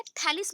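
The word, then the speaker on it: Thales: so first आते हैं, थैलिस बोल सकते हो या थेल्स बोल सकते हो, जो आपके प्रोनाउंसिएशन में आए एंड करेक्टली आप इंग्लिश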